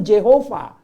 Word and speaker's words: Jehovah: Nah, padahal di Alkitab Perjanjian Lama, Masoretic Text, itu kitab yang tertua yang ada huruf hidupnya, bacanya yang benar itu Jehovah gitu.